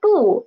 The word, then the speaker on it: 不: So summary of this tone Sandy is when bu is before a fourth tone syllable, it will change into second tone. And in other occasions, nothing happens.